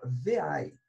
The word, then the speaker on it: vi: editor que eu vou estar utilizando se chama ver ai se escreve lembro porque eu ver aí o ver